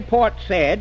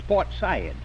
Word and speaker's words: Port Said: And you don't say Port Said, it's Port Said.